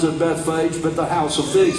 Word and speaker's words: Bethphage: And that was at Beit Foggy. We pronounce it Bethphage, but the house of figs is what it means.